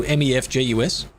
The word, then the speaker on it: Mefjus: So M-E-F-J-U-S. It's pronounced Mefjus.